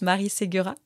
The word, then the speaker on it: Marie Segura: Oh, just Marie Segura.